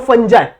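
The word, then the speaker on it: fungi: तो फंजाई, ठीक है, फंजाई बोल लो, फंगाई बोल लो, जो आपको पसंद आता है वो बोल लो, बस स्पेलिंग याद रखनी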